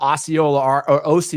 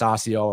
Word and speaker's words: Osceola: You know, in Alabama, Osceola, Arkansas, even though it's pronounced Osceola where I'm from, in Osceola, Wisconsin, and in Brandenburg, Kentucky,